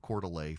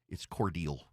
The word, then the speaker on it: Cordele: And she thanked the people of Coeur d'Alene for coming. It's Cordele. It's Cordele.